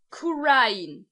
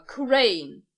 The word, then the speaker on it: Kurain: Für das gleichnamige Dorf sage ich einfach Kurain oder Kurain, ohne Betonung auf das I.